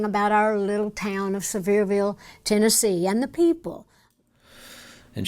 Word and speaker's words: Sevierville: I loved everything about our little town of Sevierville, Tennessee, and the people.